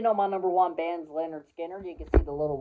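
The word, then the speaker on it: Lynyrd Skynyrd: of all time is their first album pronounced Leonard Skinner and some of my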